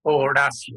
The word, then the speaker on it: Horacio: as you may know the h is silent and the c sounds like s so in fact horacio it's actually or russia so i always say